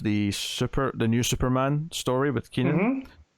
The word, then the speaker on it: Kenan: First backup is the second half of the new Superman story with Kenan, or Kenan, as Bakshi rudely corrects us all on.